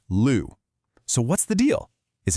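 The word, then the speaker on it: 六: Now, in Mandarin, you'd normally pronounce that Liu, but for this specific tea, from this specific place, nope, it's pronounced Lu.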